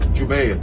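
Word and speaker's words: Jubayr: name of abdullah bin jube this isn't written pronounced jubair this is actually abdullah ibn is the name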